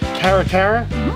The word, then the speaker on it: Caracara: This is a Caracara.